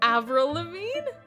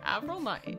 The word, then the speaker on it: Avril Lavigne: Avril Lavigne? That's how you say it. Avril Lavigne.